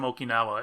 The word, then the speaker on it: Okinawa: You could tell the age difference between Talkas and I and how you pronounce Okinawa. How so? Because of the Karate Kid. Oh. The Mr. Miyagi is from Okinawa, and he always pronounced it Okinawa.